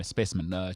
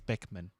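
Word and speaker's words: Specman: No, specimen. Cheetahs guy. No. And Sharks now. Roscoe Speckman doesn't play for the Cheetahs. Because I said specimen. And also, that's not how you say it. It's Speckman.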